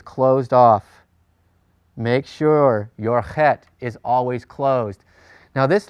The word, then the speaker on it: het: used to saying and some people say it a little harder like Bach but you really want to get the Flemmi sound when you're pronouncing the het in Hebrew it's just a lot